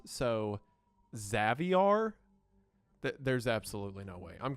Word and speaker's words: Xavier: Also, according to uh Babuar himself, his first name is not pronounced Xavier, but it's pronounced as Caviar, but instead of a C, it's an X. So, Xaviar, there's absolutely no way.